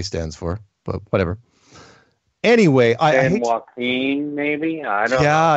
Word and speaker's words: San Joaquin: Anyway, San Joaquin, maybe? I don't know. Yeah, you know what? That's, that's probably... Listen, dude. What? You are the shit. You, man. You don't pronounce the J, Mark.